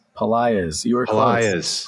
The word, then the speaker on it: Pelaez: I'm going to mispronounce. It's Daniel Pelaez? Pelaez. You were close. Pelaez.